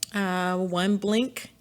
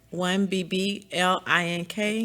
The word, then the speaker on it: One BBlink: One Blink, one BBLINK. You can see it down there. So the B is silent.